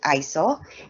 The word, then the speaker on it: ISO: So we pronounce it ISO. It is not an acronym. It comes from the Greek word isos, which means equal.